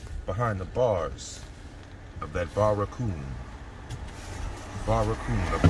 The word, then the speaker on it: barracoon: the bars of that barracoon. A barracoon is a Portuguese term for a slave jail. Barracoon. Barracoon is spelt B-A-R-R bar A coon.